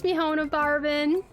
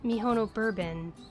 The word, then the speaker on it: Mihono Bourbon: Now, you have a good one, Miss Miona Barbin. My name is Mihono Bourbon. It is spelled M I H O N O B O U R B O N.